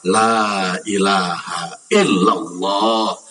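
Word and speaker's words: لا إله إلا الله: Barang siapa orang yang membaca kalimat la ilaha illallah satu kali saja, wa maddaha dengan benar membacanya, bukan la ilaha illallah, la ilaha illallah, bukan gitu, tapi la ilaha illallah, la ilaha illallah.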